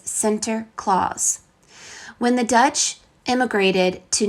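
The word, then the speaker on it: Sinterklaas: to celebrate the event the Dutch pronunciation of Saint Nicholas is Center Clause when the Dutch immigrated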